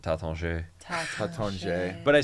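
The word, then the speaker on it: Taittinger: is like the teder I say Tater because that's what everybody says here they pronounce it taton tat but I sound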